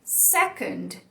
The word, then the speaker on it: second: Esse é o schwa, que a gente já falou bastante hoje. Acontece na palavra second. Second. Percebe como ele é fraquinho, preguiçoso?